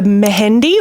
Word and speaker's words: Mehendi: So, the first event is called the Mahendi or Mendy. I think it's just Mendy, but it's spelled M E H E N D I.